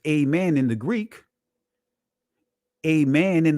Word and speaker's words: amen: notice where it says amen in the Greek. Amen in the Greek. So Aman is actually the proper pronunciation of the word amen. Amen is the Greek pronunciation, but Aman.